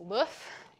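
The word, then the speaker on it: LOEUF: more recently we released LOF is which is pronounced like the egg in French uh not my call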